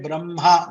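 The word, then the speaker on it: ब्रह्म: Normally we say hma, but when you say brahma, we say brahma, makara first and hakara later.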